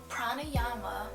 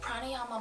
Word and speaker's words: pranayama: with me as well that's again I'll just pronounce it for everyone pranayama mama so pranayama mama pranayama is Sanskrit word for just life